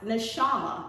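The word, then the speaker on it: נשמה: copyright 2003 defined the word breath code 5397 pronounced neshama in hebrew as divine inspiration intellect our breath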